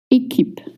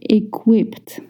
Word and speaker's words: équipe: Number 7, équipe. Équipe. Une équipe ou l'équipe. Please don't say equipped. The QU is pronounced with a K sound.